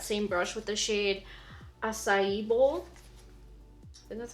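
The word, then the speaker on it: açaí: to take that same brush with the shade acai bowl and that's how you say it this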